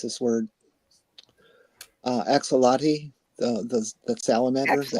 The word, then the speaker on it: axolotl: The one I'm kind of stuck on right now is I can never pronounce this word. Axolotl, the salamander, the axolotl.